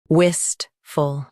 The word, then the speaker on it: wistful: Wistful. Both US and UK have the same pronunciation of this word. Stress wist. Keep full soft and quick.